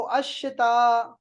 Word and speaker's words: الشتاء: अश-शिता, देखो अश-शिता, الشتاء लाम साइलेंट है सब में, देखे ना।